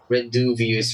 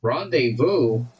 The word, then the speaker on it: rendezvous: I thought rendezvous was like pronounced like renduvius or something. Like rendezvous.